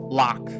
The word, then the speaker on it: Lach: Lach, pronunciation lock, meaning a full e-drum/night cycle, occasionally used outside suburbia for full day and night cycles.